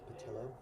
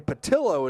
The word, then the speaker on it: Patillo: That's pronounced Patillo. Beg your pardon, A.J. Patillo is how he pronounced that name.